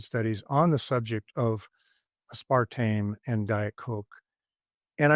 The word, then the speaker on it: aspartame: good data showing that a spartame is bad. And Spartame has two pronunciations, but I call it a spartame and the other I can't even remember what the other aspartame.